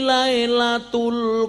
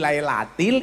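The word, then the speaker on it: لَيْلَةِ: Inna anzalnahu fi lailatul qadr. Salah apa benar? Salah. Salahnya di mana? Harusnya membacanya fi lailatil, imamnya baca tul.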